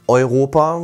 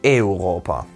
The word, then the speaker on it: Europa: Also nicht Europa, sondern Europa zum Beispiel.